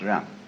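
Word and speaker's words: 仁: In Confucius philosophy, the fundamental virtue of a human being is called Ren, spelled J-E-N for reasons best known to Chinese scholars. I don't know what they are, but it's pronounced Ren.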